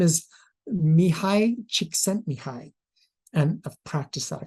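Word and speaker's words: Csikszentmihalyi: first of all we gotta learn how to pronounce his name his name is Mii chent Mii and I've practiced that a couple of times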